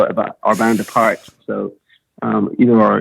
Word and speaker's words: Our Bande Apart: is actually i mean it's french so it's it's pronounced like you forget that you know ignore the t the french have a